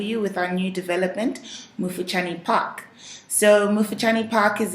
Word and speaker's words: Mufuchani: It's a Bemba name. I think so, yes. Mufuchani, that's the pronunciation.